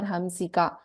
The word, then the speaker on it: हंसिका: Should it be pronounced as na there, hansika or hamsika? So please note, this is muni manasa hamsika only. This is not na. This is not any other anunasika apart from the regular what we chant hamsika.